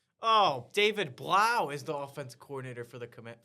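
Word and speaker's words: Blough: his name is so- Blow. Like that's how it looks, but it's pronounced Blau.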